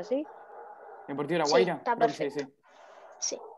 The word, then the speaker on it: Deportivo La Guaira: Cerro Porteño, Atlético Mineiro en América y Deportivo La Guaira. ¿Se pronuncia así? ¿Deportivo La Guaira? Sí, está perfecto. Sí. Sí, La Guaira.